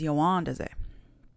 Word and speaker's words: Yawandaze: Okay, so ya, wa, da, ze. 4 syllables in this one. Ya, wa, da, ze. Yawandaze. Now you can hear that there's certain parts where I emphasize things, right? Yawandaze or rohahes. And those are using the up stresses,